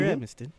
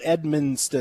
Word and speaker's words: Edmiston: You can follow Edmiston at Edmiston. You can follow Anthony Sane. Don't throw an extra N in there. It's Edmiston, not Edmonston.